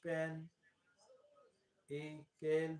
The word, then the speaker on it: pinnacle: The word consists of three syllables. The vowels in the first two syllables should like the I in pin, din, and tin. The word is pronounced pen, e, kale with a stress on the first syllable.